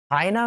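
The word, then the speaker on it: hyena: हाइना में आप देख रहे हैं हा की आवाज़ आ रही है शुरुआत में।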